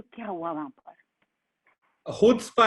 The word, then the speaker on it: Chutzpah: गए थे जब हमको सी साइलेंट है. खुदस्पा. हाँ खुदस्पा. हमको भी नहीं पता था. मैंने भी पहला सवाल ये था अगर साइलेंट है तो लगाया क्यों. तो उसका मतलब हम लोग सारी जिंदगी गलत प्रोनाउंसिएशन ले रहे हैं. यस, हमें भी अभी समझ आया कि यार ये तो खुदस्पा है, ये चुत्स्पा नहीं है, ये खुदस्पा है.